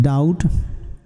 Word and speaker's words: doubt: you can say continuing for a long time doubt do you bt b is silent children doubt continuing n c-o-n-t-i-n-u i n